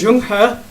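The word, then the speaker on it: Zheng He: gotta spell it correctly pronounced as young huh and he was a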